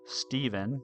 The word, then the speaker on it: Stevan: I've had to clarify my name is pronounced Steven not Steven not Estabbon not Stean so I totally get it.